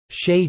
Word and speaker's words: shea: is rhyming with t, although the pronunciation rhyming with day is common and is listed second in major dictionaries.